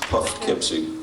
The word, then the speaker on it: Poughkeepsie: This was last Halloween in Poughkeepsie. Or Poughkeepsie, if you are phonetically inclined.